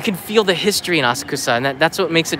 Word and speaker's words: Asakusa: Personally, though, I prefer Asakusa or Asakusa, depending on if you're a pronunciation snob. Asakusa is the way that you would say it for foreign tourists on the train.